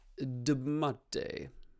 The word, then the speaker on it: dbmate: Okay, let's assume it looks like the DB Mate, that's how we're pronouncing Debmate.